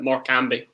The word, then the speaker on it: Morecambe: That's how you pronounce it. Morecambe.